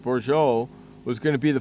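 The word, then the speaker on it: Bourjos: set so bour bouro that's how his last name is pronounced borjo was going to be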